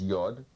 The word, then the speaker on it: Yod: The Hebrew name is Yod. It's pronounced as an I or a Y sound, an E-ish I sound.